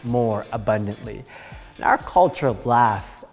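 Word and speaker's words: LAF: Our culture is something that we like to call laugh. We spell it L-A-F, but we call it laugh on purpose.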